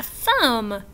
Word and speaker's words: thumb: We do not hear the B in words like lamb and thumb and dumb and bomb.